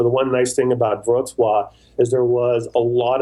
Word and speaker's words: Wrocław: Yeah, so the W is a V and the L, there's a L with a line through it. So it's like Wrocław. But yeah, that's exactly how you pronounce it.